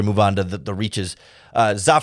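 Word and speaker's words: Zah: Za Frazier, although I've heard it pronounced Zay Frazier, the 5th-round cornerback from UTSA, 6'3" with 4.4, 4.3 speed in there.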